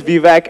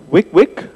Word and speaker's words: Vivek: I want to start my name is V vac and that's just funny in itself because people have a hard time saying my name right and they see my name they're like oh wick wick alright you can't say it but I want to